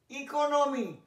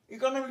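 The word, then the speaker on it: economy: এগুলো এক্সেপশন বলে দেখাচ্ছি, ই দিয়ে শুরু হয়েছে কিন্তু উচ্চারণ ই দিয়েই, শর্ট ভাওয়েলের এ নয় মনে আছে বলেছিলাম, প্রথমটা শর্ট ভাওয়েল হবে কিন্তু এগুলো এক্সেপশন মানে ব্যতিক্রম বলে দেখাচ্ছি, জেনে রেখো ইকোনমি ইকোনমি জানো অর্থ ব্যবস্থা, ইডেন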